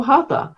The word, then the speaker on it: Hatha: In Sanskrit, it's a ta rather than a th. Okay. Yeah. It's an aspirated T.